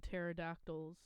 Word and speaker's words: pterodactyl: all right Grayson breaking pterodactyl's okay I said be in P oh the P is silent in pterodactyl it starts with thank